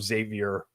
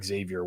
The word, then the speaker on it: Xavier: and uh you're you're getting mocked for your pronunciation of uh of Xavier or Xavier worthy you went with the French Z or maybe because like